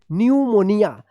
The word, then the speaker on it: pneumonia: तो P silent रहेगा, फिर एन से पहले अगर पी आता है तब भी पी क्या रहेगा? साइलेंट रहेगा। इसको ध्यान रखिएगा, एस से पहले पी आता है तो पी साइलेंट रहेगा, और एन से पहले पी आता है तब भी पी क्या रहेगा? साइलेंट रहेगा। जैसे आप इस वाले कॉलम में देखिए यहाँ पे PNEUMONIA न्यूमोनिया।